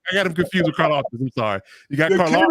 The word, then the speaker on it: Karlaftis: Karlaftis. I'm sorry. I got Arnold. I was like, who the hell? I got him confused with Karlaftis.